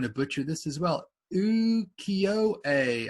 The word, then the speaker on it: Ukiyo-e: Ukiyo-e. I believe you don't pronounce the E and E, you say A. Ukiyo-e. I could be wrong.